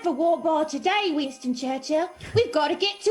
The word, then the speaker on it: Churchill: Is it Churchill or Churchill? Churchill. You kind of hit the L.